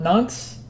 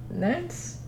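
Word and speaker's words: Nantes: shop and I I'm sorry I can never pronounce that city and fret not nonce it's not I'm gonna my family is gonna hit me for getting that pronouncing it wrong because they're from Nance well thanks guys sweet so you guys want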